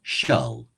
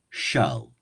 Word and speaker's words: shall: So shall becomes shull, shull, shull.